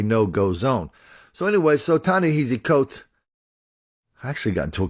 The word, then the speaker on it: Coates: If you want to write a novel about Ta-Nehisi Coates, if you want to write Ta-Nehisi Coates style, I'll tell you how to do it right now.